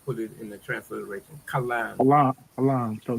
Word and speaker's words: kalam: Kalam. Kalam. No. Kalam. Kalam. K A L A M. If you put it in the transliteration. Kalam.